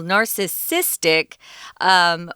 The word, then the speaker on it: narcissistic: There's narcissism, which is a noun, and there's narcissistic. We change the emphasis to a different syllable, narcissistic, which is an adjective, and you'll hear that quite a bit too.